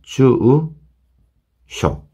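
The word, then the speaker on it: 住所: 주쇼 주쇼 주 마찬가지입니다 주우 쇼 장음을 요렇게 생각하시고 주우로 생각하시고 주쇼 이렇게 발음하시면 되겠습니다 주우쇼 그 다음에 빠르게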